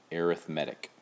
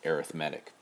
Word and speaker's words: arithmetic: of series it's pronounced arithmetic when it's a noun it's arithmetic when you're adding subtracting that's arithmetic right when it's an adjective describing a type of sequence or series it's pronounced arithmetic here are a couple